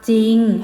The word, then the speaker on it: จริง: เขียน คํา อ่าน คํา ควบ กล้ํา ไม่ แท้ ควบ ด้วย หรอ เรือ ออก เสียง พยัญชนะ ต้น ตัว แรก ตัว เดียว เช่น สร้าง อ่าน ว่า สร้าง จริง อ่าน ว่า จริง เศร้า